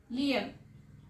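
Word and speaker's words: phloem: Xylem, लियम, पी और H silent है इसीलिए मैं जाइलम और लियम बोल रही हूँ।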